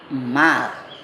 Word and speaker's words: mal: zakat fitrah dan zakat mal Maaf tulisannya memang mailptpn4 bacanya Mal Jangan sampai keliru kita membaca dengan maaf nanti ditertawakan oleh anak